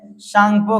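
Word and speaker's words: Tsangpo: तो तिब्बत में शंगपो के नाम से जाना जाता है। यदि इंग्लिश में इसको देखेंगे तो टी साइलेंट होता है।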